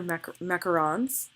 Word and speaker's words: macaron: Okay, so these are macarons. My best friend Kelsey Bing has taught me how to correctly pronounce that. Macaroons are the ones with coconut. Macarons are the ones that look like this that everyone loves to take pictures of.